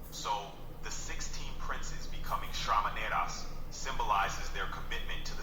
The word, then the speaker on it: Shramanera: You pronounced it a little off. It's Shramaneras. Shramaneras. That's a term for not. Shamanaras is a bit off in pronunciation. The correct term is Shramanera, which refers to a novice monk in Buddhism.